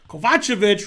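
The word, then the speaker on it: Kovačević: is geary upset terrible kovachevich rhymes with gotcha that is correct yes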